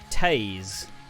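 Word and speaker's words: Toews: thaniel son come on that t o e WS is pronounced taze he probably has fired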